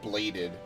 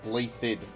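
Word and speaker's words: Blaiddyd: freely blathered uh yes it's not pronounced bladed it's blathed the king's home domain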